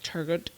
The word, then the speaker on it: Turgot: don't know I saying it's spelled turgot tur turgot no I'm pretty sure it's turo or turo turo may I think it's turo okay and Neer that